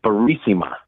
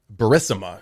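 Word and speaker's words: Burisma: And then this one was you pronounced it Barisima. Barisma.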